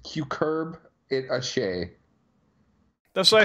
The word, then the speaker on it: cucurbit: it be good yeah apparently it's it's pronounced cue curb it a shame that's why I said cucurbit it's hej so okay